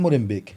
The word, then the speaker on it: Molenbeek: c'est c'est bourré de c'est pas Molembec c'est Molem B et tout d'un coup